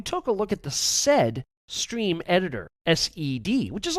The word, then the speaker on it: sed: Awk is spelled A-W-K. In another demo, we took a look at the sed stream editor, S-E-D, which is also used to filter out textual data.